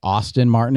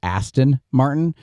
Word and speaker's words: Aston Martin: I keep saying uh since I keep saying Austin Martin instead of Aston Martin there is a good